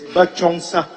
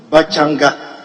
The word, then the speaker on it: Bachongsa: 264, Roman numeral II is Bachongsa, not Bachanga. It should be BACHONGSA.